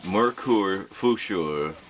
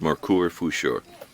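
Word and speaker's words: Merkur Futur: I use a Merkur Fuscher. That's how it's pronounced. I think that is German. It's from Solingen, Germany. This is a Merkur Fuscher razor, spelled M-E-R-K-U-R F-U-T-U-R.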